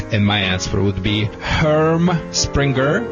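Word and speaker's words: Herm Sprenger: And my answer would be Herm Springer, it's a German, Herm Springer dog training colors.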